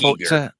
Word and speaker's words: Giger: But I do like the fact they made it very Giger or Giga, however you pronounce it. It's Giger.